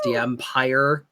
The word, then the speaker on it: DMPeyer: It is pronounced DMPeyer, like Star Wars. The Empire Strikes Back.